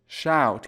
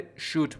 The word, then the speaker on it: shout: shout که گفتیم تلفظش تقریبا شبیه کلمه loud هست و این رو نباید به صورت shoot بخونید که اشتباهه.